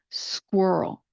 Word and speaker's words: squirrel: So if you listen to me carefully, you can hear the S at the beginning and then the transition over the Q and the U into the Earl sound.